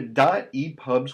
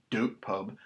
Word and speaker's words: dotEPUB: in a moment so you're gonna go to dot epubs website and you'll see it's do te pu b it's pronounced dot e pop not doop pub so you get a dot e pub and